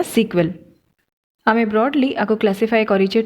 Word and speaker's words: SQL: एगुड़ाक सेटा है आमर स्ट्रक्चर क्वेरी लैंग्वेज SQL बा आपको आम प्रोनाउंस करवा सिक्वेल.